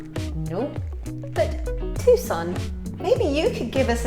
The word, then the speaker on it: Tucson: where Mum actually lived for a while not tuck son no but Tucson maybe you could give us a suggestion of